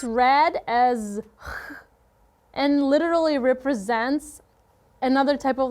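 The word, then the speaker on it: 아싸: If you are an outsider, person who doesn't know a lot, is not into the current trends, is called outsider, and in Korean pronunciation, shortened, it will be asa.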